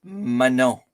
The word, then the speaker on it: Manon: my girlfriend's name is mano m-a-n-o-n but the last n you don't pronounce it you know like English